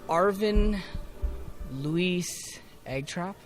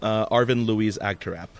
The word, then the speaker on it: Arvin Louise Agtarap: Today we'll be talking with Arvin Louise Agtarap. Close enough. That's probably not how it's said. Do you want to actually say how it's said? Arvin Louise Agtarap, if Yeah, you're pronouncing it Englishly.